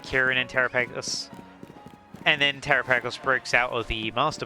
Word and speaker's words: Terapagos: Cuz uh Terrapeos was set up as like or Terrapagos, sorry, I keep saying it wrong.